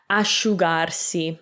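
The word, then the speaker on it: asciugarsi: and you get sho s c i a will make sha like sharp which is scarf so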